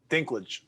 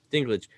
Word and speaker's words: Dinklage: thrones yeah how do you say his name dinklage dinklage when he's in it where he said you